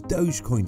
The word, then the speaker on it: Dogecoin: Consider the term dough, except with a J at the end. So why is Dogecoin so popular?